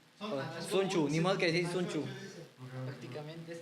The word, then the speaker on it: Sun Tzu: no pronunciarlo de hecho creo que la tz dentro del losa asiático se termina pronunciando como una ch Oh sería chuchu primero va la H después va la o porque dijo ch bueno ch o chu Sun chu ni mod quechu prácticamente